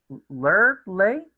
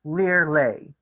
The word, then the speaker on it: Lurley: "Lurley?" he tried. Lurley shook her head. It's pronounced Lear-lay, like to leer at somebody and to lay somebody down.